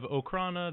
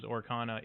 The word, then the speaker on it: Okrana: Oh, and he is chaotic neutral and sort of believes in the god of Okrana that I will mispronounce as Orkana at least 50 times.